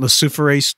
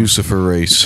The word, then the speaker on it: luciferase: Luciferase. Yeah, it's like Lucifer. Luciferase.